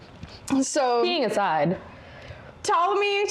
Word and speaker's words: Ptolemy: So he sees the opportunity to kill the queen, handing the throne to 5-year-old Ptolemy V. Silent P the Fifth.